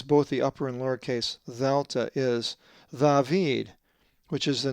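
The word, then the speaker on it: δέλτα: The fourth letter of the Greek alphabet is the upper and lowercase dheltah, not delta.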